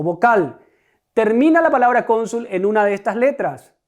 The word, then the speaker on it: cónsul: Ahora fíjense en esta palabra, cónsul. ¿Cuál es la sílaba tónica? Com. Por tanto, es una palabra llana o grave.